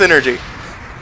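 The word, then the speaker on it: Psynergy: energy in IG yeah so we're pronouncing its energy yes energy it is I also call it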